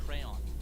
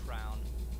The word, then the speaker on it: crayon: As an adult, I say crayon. But like growing up, I said crown.